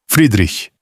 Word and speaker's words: Friedrich: Friedrich, com esse chacha final leve e para a frente, mais perto de um chacha soprado do que do raspado de Bach.